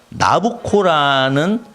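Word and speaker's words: Nabucco: 히브리 노예들의 합창이라고 해서 여러분 너무 잘 아는 그 베르디의 나부코라는 그런 오페라에 나오는 합창곡이죠. 내가 이 합창곡을 소개하는 이유는 이스라엘 민족의 애환을 여러분이 생각하라고 하는 것도 있지만 이 오페라의 제목이 나부코입니다. 나부코는 느부갓네살의 이탈리아식 발음입니다.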